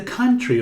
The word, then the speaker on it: country: Aqui não pronunciamos a letra O, temos can, country. O mesmo som daqui, sun, can, Sundays.